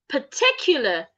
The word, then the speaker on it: particular: The A and R after the P make the sure sound. So it's particular, not particular.